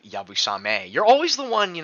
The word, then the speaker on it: yabusame: worth getting I love hearing English people say yabu sam uh instead of yabusame you're always the one